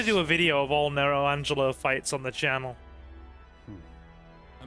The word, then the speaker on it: Nero Angelo: Go face Nello Angelo. Well, technically Nero Angelo, but, you know.